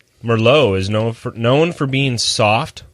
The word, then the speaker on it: Merlot: got all this shadow back here, so it's like Merlot is known for being soft, ripe, and elegant.